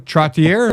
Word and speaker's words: Trottier: It's Trottier, French gotcha.